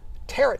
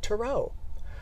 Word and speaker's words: tarot: And if you're from the Midwest, you might pronounce it tarot cards with a hard T at the end. But the preferred pronunciation comes from the French with the last T as silent, pronounced tarot.